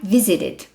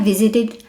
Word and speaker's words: visited: tá d ou t a pronúncia do Ed fica do I curto com o d tá a pronúncia que você vai dar para ele então você vai falar i visited i visited Olha o meu façam